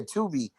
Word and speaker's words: Tubi: Is it Truebill or I'm saying it wrong? Is that app? What is it? Tubi or something like that? Tubi? Yeah, Tubi. They got nominated on Tubi for it's called Force the Sins.